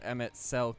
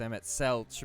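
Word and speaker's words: Emet-Selch: is rather ironic that i mispronounced emmett's selk as emmett celch but red lark i pronounce with a hard c well no matter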